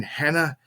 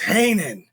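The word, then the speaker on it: Heenan: and she's like reading the names and like mispronunciating them like Bobby the Brain Hannah it's Hanan and it was just the comedy back and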